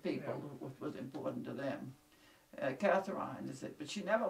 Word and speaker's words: Catherine: This would have been about 1815 or 16, but anyway, in 1822, they had a daughter, Catherine, spelled with a C, but pronounced Catherine.